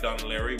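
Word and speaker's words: Dún Laoghaire: a place in Dunleary, which doesn't look like Dunleary when you look at the way it's spelled, but it's Irish.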